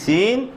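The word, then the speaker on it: سين: সিন একটু কি শক্ত করে, সিন একটু কি চিকন করে ছাড়তে হবে আওয়াজটা, আর শিন একটু আরো স্বাভাবিক করে, আরো কি স্বাভাবিক করে হয়ে যাবে।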